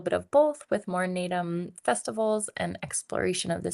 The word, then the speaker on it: Naadam: Naadam. It's like a a curtailed end of the word, Naadam.